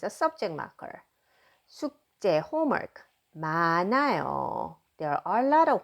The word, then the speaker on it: 많아요: Notice that I pronounce this 마, 나, 요 because a 흐 does not, final 흐 does not pronounce, and bottom 느 spills over right here for the pronunciation. So I'm going to pronounce it as 마 without anything, and then 나요, 많아요.